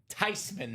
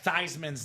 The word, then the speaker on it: Tyman: pronounce properly the Tyman name. That's that's the code. Are you in? How do you properly pronounce? Uh, Thyman's name. It's Tyman. Not Theman. Not Thyman. Not, you know, it's Tyman.